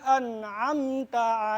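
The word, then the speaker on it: أَنْعَمْتَ: Siratal ladzina an'amta alaihim. Ayo. Siratal ladzina an'amta alaihim. Di an'amta harus jelas.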